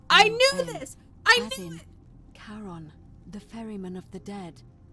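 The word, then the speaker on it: Charon: as you described it only your pronunciation is a little off the name you heard wasn't Karen I knew c h a r yes I knew this I knew Caron the Fairman of the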